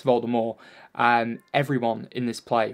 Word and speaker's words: Voldemort: made it known that the T in Voldemort is supposed to be silent so it's volta more and everyone in this